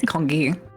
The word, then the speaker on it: kanji: Kanji, I thought it was kongi. No. Both pronunciations are used.